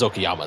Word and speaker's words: Okayama: It is Okayama today, Yes, it correct? is. Yeah, I really should have mentioned that, Yeah, shouldn't I? yeah. I was looking like I remember this track. Okayama is a perennial favorite for those of that